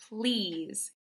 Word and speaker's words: please: Please has a sneaky silent E at the end, so we have to remember and know it's there for when we're reading and writing.